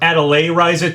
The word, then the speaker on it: Atelier Ryza: So this potential Nintendo Direct leak had Atelier Ryza 2 on it, or Atelier Ryza 2, that's how people have told me it's pronounced.